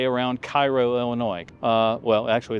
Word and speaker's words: Cairo: 44 feet on the gauges up, say, around Cairo, Illinois. Well, actually it's pronounced Cairo here in the States. It's Cairo if you're over in Egypt.